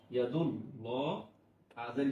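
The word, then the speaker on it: يَدُ اللهِ: তাহলে আল্লাহ শব্দের আগে যদি জবর অথবা পেশ থাকে, তাহলে আমরা সেই আল্লাহ শব্দের লামের উচ্চারণটা আমরা মোটা করে করব।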